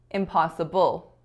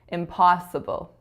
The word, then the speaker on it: impossible: lately lately and finally I said impossible impossible in which I was making that final syllable really strong but I should have made the second syllable really strong impossible impossible so let's hear this